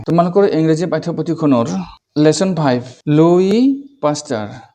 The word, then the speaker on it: Louis: আজের ভিডিওত আমি তোমার ইংরেজি পাঠপতিনর লেসন ফাইভ লুই পাস্টার লুইস নয় এসর উচ্চারণ নয় লুই পাস্টার পার্ট ওয়ান ভিডিও বিজ্ঞানী